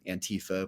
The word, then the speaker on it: Antifa: in the American twang and our accent, it's become Antifa, which is how I say We it for love sure. to stress a penultimate syllable.